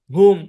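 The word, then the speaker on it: whom: শব্দে ডবটা সাইলেন্ট থাকে যেমন হু হুম হু এই কথাটাকে ভাই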